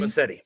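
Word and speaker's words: Muschietti: Massetti.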